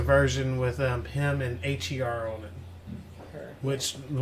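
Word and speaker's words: H.E.R.: and there's a version with um him and HR on it her which the one with I like both her as people pronounce it it's really h r but it's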